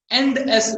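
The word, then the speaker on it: ENDS: End S, we pronounce this one as end S because it is used for ending the segment, which we are indicating the end of the segment.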